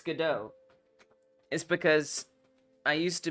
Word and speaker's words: Godot: I was studying theater I already knew that it was pronounced gdau but I kind of like God do better if I'm being honest I love the YouTubers